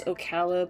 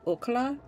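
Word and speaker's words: Ocala: There are different ways to uh pronounce this particular area. I grew up knowing it as Okala, but a lot of people nowadays say Okla or um there was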